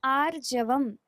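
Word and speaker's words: आर्जवम्: ज के ऊपर जो रेफ है ना, उसको उसको क्लियरली प्रोनाउंसिएशन करना है, आर्जवम, आर्जवम। अभयम, सत्व संशुद्धिर, ज्ञान योग व्यवस्थितिः, दानम, दमश्च, यज्ञश्च, स्वाध्यायस, तप, आर्जवम।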